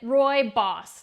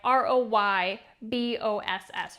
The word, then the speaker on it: Rooibos: a ding-dong And uh you pronounce it Roy boss like r o y b o SS Roy boss this is not tea